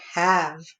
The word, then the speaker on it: have: Do you hear how that doesn't say A? That means that's a short vowel sound, ha, but it has the silent E at the end. So this should have been long, so that's my other oddball.